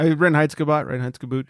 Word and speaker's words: Reinheitsgebot: Yeah, Reinheitsgebot.